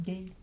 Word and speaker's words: Guy: On nous dit que ça se prononce gay.